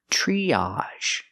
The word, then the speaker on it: triage: e like green beans triage again we have the a sound triage a triage Center is